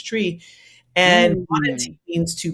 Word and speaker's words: Twi: language is is Twi, spelled Twi, it's spelled Twi, people say Twi, but it's Twi.